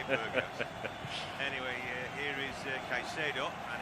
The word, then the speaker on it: Berghuis: Yeah, they were pronouncing it Berghaus on the TV, so I'm thinking they might have got it right. You never know. So that's what I'm going with today, Berghaus.